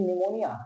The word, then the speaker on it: pneumonia: हो गया सेकंड देखेंगे निमोनिया कहते है निमोनिया हो जाना निमोनिया में प साइलेंट है गलत स्पेलिंग में समझ